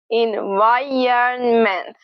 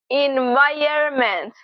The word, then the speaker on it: environment: Iron, environ, and then you end it the same way, ment, environment, environment, environment. However, there is another way that makes it even easier to pronounce, and that is without the N. Listen, environment, environment, environment.